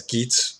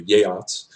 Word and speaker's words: Geats: is known as a upland it's tempting to pronounce the Geats that they're named as gates but I've learned that this is not the correct pronunciation the gates are the yacht's and they have come across from the southern